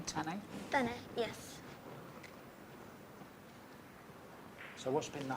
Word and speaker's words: Tanay: Tanay, yes.